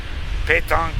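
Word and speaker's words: pétanque: Petanque pronounced Petanque.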